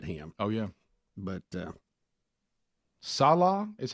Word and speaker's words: Salah: like to get him oh yeah but uh Salah is how you say his last Salah Salah